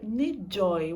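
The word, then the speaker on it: N'Joy: dela Olha só Jibóia ne Joy o n é mudo né e o ruído em joy é um y no final eu uma coisa bastante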